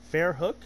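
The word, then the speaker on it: Verrückt: I was veru once I've been pronouncing ver wrong the whole time what ver hook Fair hook yep and that means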